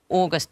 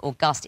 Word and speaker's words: August: These are words that change their pronunciation and meaning depending on whether or not they have a capital letter. Right. Yeah. Without a capital T, it's tangier. Natal becomes natal, Polish becomes Polish, August becomes August.